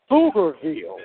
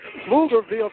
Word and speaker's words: Pflugerville: I want to remind you that the Open Mic Broadcast Network will be in Pflugerville, spelled with a P. That's right. Pflugerville, Texas, tomorrow night as the Lumen Eagles will play.